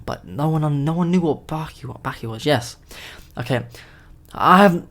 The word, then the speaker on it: Baki: I was little, so sometimes I say stuff a bit posh, like barky, but I know it's baki, so I'm gonna try to say it like baki, but like, and that's not really important.